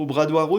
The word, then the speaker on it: Obradoiro: Obradoiro, c'est la place de la cathédrale à Compostelle. D'ailleurs, je prononce mal, moi je prononce à la française, c'est Obradoiro, Obradoiro.